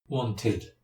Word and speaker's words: wanted: Wanted, wanted. You simply cannot say wanted or need. You have to pronounce the extra syllable.